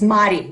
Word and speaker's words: Madi: It's Madi. It's like a double D.